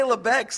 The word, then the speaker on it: Labatt's: Hey, we'll go to Tim Hortons, hey, after we drink a Labatt's. Oh, I'd rather have a Molson. I love how you say Lebeck's. Like, that's literally how they say it up Yeah.